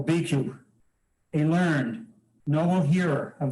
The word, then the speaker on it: Bhikkhu: Sensation, obikku, is not the self. Bhikkhu. How do you say that, please? Bhikkhu.